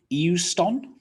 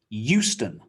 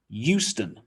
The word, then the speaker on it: Euston: say this one so you might think eu eu euston not quite it's just houston houston this is a really